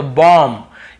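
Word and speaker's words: bomb: पर भी बी को नहीं पढ़ना है तो बॉम्ब, यहां पर भी बी को नहीं पढ़ना है तो थम, यहां पर भी बी को नहीं पढ़ना है तो डम।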